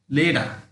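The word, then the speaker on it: letter: This is not water, this is correct pronunciation, অর্থাৎ correct সঠিক pronunciation ওয়াডা, ওয়াডা, লেডা। কেমন? লেডা মানে লেটার, আমরা যেটা লেটার পড়ি সেটা সঠিক উচ্চারণ লেডা।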